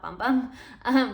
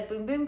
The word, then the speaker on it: Bum Bum: I actually also just learned that it's pronounced Boom Boom, not Bum Bum.